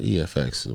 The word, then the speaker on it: EFX: It's called Optimal Effects. Deserve Optimum EFX, if you want to say it like that. I like to say effects, but EFX works.